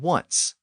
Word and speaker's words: once: for some unknown reason they survived in the words one and once and by the 1700s that initial W sound in those words had become standard throughout English so that helps to